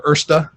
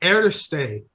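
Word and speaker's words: Erste: giveaway for your your ursta I got chastised by somebody from Germany for not pronouncing the E on the end so it's actually air state yeah I'm a friend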